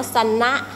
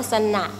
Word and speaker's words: เสนาะ: งาน ปัก นะ คะ คำ ว่า เสนาะ เขียน อย่าง นี้ สระนะ แต่ บาง คน ก็ จะ อ่าน ว่า ซันนะ ซึ่ง มัน ผิด นะ คะ ต้อง อ่าน ว่า สั่น น่ะ ช่าง เสนาะ เนี่ย จะ